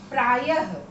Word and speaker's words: प्रायः: और इनका उच्चारण ह के समान किया जाता है। जैसे हम लिखते हैं प्रायः, प्रायः प्राय लिख के दो बिंदी बगल में लगा दिया य के, तो ये ह का उच्चारण ये होता है प्रायः।